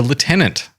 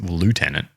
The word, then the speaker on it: lieutenant: Where's lieutenant? Navy. Air Force. Okay. Even though it's spelt lieutenant. That's correct.